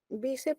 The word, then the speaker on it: bíceps: a ver, bíceps es grave, coñac es aguda. Bíceps. Bíceps es grave y lleva tilde. Uh-huh.